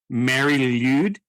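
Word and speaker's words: Mari Lwyd: Mary Lude. Okay. Mary Lude. So it's Lude is L-W-Y-D. That is a strange assortment of letters. It's probably like a guttural sound.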